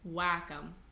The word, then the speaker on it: Wacom: I'm gonna name this one Wacom, because that's the right way to say it.